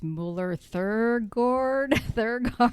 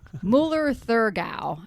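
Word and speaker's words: Müller-Thurgau: It's Müller Thurgard. I always forget how to pronounce. Müller Thurgau would be it.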